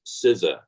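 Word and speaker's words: CISA: pronouncing my agency correctly it is the cyber security and infrastructure security agency pronounced scissor and uh we call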